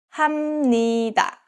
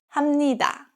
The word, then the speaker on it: 합니다: So this case, 합 is pronounced as 함. So it's 합니다, 합니다.